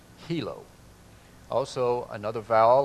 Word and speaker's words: Hilo: we just threw up, the I is not pronounced as an I in Hawaiian. It's pronounced as a long E or a double E. So this word would be hilo.